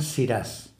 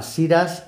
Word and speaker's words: Shiraz: en Nueva Zelanda pues le llaman siras se cree que esa forma siras es una deformación pronunciando en inglés la palabra francesa siraj actualmente es una uva